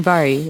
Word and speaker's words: Vahri: youtube mixer or twitch if you type in vari it's spelled VA h RI you can also find